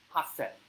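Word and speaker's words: 八千: Hasen would be 8,000 because hachi is 8, sen is 1,000. However, when you combine the two together, hachi and sen will become hasen for specifically 8,000.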